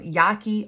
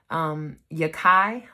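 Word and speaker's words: Yahki: Because when you think about it, and this is a shout out to a lot of people call him Yaki Awakened, but his name is pronounced Yakai Awakened.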